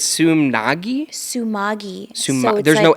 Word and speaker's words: Sumagui: say my last name I always say tsunami that's is it Su but it's sum Nagi Sumi there's no n